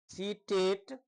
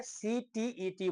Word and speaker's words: CTET: और यह क्वेश्चन यहीं से, अभी जो आप देखेंगे सीटेट, STET, सीटेट, ये प्रोनाउंसिएशन रॉन्ग है, CTET बोला जाता है।